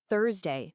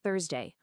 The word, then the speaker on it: Thursday: It's Thursday, not Thursday. Always hit that first sound the hardest.